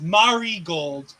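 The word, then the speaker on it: Marigold: by the way I'm being it's Mari gold not Mar Mari thank you m I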